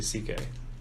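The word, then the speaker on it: Székely: Louise Louise City hmm his last name is actually CK it's just spelled out it's spelled weird it's like see ya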